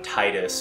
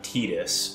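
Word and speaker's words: Tidus: to pronounce his name there's argument between Titus and Titus I've always called him Titus but apparently his name is actually tedious from what I understand into my story this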